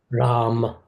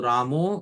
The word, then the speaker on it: Rama: So Ramo is not the correct pronunciation. And Srila Bhaktisiddhanta Saraswati Thakur Prabhupada, although he was born in Bengal, he had perfect pronunciation. He used to say Ram, Ram. There should be a short Ram. Ram is North Indian pronunciation. Ramo is Bengali pronunciation. Rama is neutral Sanskrit pronunciation.